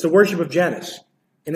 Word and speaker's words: Janus: Right, read Janice, brother. Janus, an ancient Roman religion and myth, pronounced is the god of beginnings, gates, transitions, time, duality.